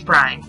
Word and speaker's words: Bryan: The Lion is none other than William Jennings Bryan, the Nebraska representative in Congress and later the Democratic presidential candidate in 1896 and 1900. Bryan, which rhymes with lion and also sounds like lying, was known for his